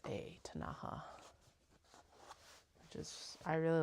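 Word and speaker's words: Ktunaxa: that live in that area are actually the tanaha which actually gets anglicized to k t u n a x a tanaha which is I really like it actually the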